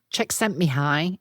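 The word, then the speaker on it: Csikszentmihalyi: Mihi Czech sent Mihi.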